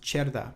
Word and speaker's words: Cerda: My name is pronounced Cerda because it's Italian and C is pronounced ch in Italian.